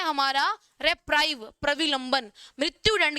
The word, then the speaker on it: reprieve: ठीक है, इसकी स्पेलिंग है REPRIEVE। ठीक है, रेप्राइव।